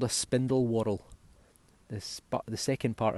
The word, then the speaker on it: whorl: It's called a spindle whorl. This, but the second part of it is spelt W-H-O-R-L.